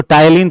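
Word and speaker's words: ptyalin: या फिर सेवरी एमाइज इसको टाइलिन पढ़ेंगे ठीक है पी साइलेंट है इसीलिए वनली स्टार्च हां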